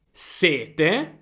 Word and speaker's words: sete: Sete, il sentimento di avere bisogno di bere. Ok, è sette sette. Il numero sette. Sete siete 7. Sete 7.